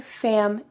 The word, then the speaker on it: family: She didn't say family. I-ly with a short I, family. She says family, E. So oftentimes I hear Spanish speakers substitute a short I for a long E.